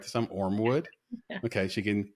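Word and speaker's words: Ormewood: Did I pronounce that right this time? Ormwood.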